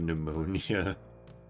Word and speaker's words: pneumonia: What do you think of Tales of Pneumonia? I don't like how there's a silent P at the beginning of it.